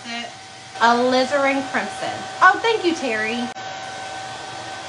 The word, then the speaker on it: alizarin: elizabeth the name uh like a lizard so i don't know